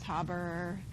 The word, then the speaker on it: Haber: bit the upper process heard it pronounced both ways haber haber process okay so we'll